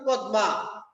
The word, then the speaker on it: পদ্মা: আমরা আজকে আলোচনা করব পদ্মা। পদ্মা একটি কবিতার নাম লিখেছেন কবি ফরুক আহমেদ। প্রথমে দেখ লেখি আমরা কিন্তু পদ্মা। কিন্তু উচ্চারণ করি পদ্মা। পকা দ হস চিহ্ন আরেকটা দ চন্দ্রবিন্দু আকার পদ্মা।